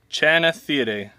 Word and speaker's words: Channichthyidae: The scientific name of an icefish is Channichthyidae. Channichthyidae. Ooh, that's hard. Channichthyidae. Channichthyidae? Channichthyidae. Channichthyidae. Okay, how you say it is Channichthyidae.